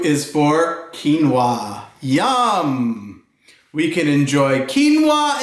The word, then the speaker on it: quinoa: put some cream on it q is for quinoa YUM we can enjoy quinoa and quiche by